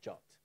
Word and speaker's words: JWT: name the number and in the RFC itself it says that you should pronounce that as jot I have no idea